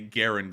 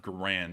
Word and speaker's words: Garand: a great one um so I always make sure to say Garand instead of grand although I grew up